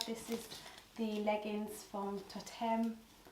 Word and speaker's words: Toteme: This is the leggings from Toteme. I'm sure that's how you pronounce it. Toteme? Toteme. Toteme.